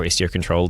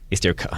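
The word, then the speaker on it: istioctl: of neat, is Istio comes with Istio CTL, or Istio Control, depending on how you like to pronounce those things. FRANCESC CAMPOY: Istio Cuddle.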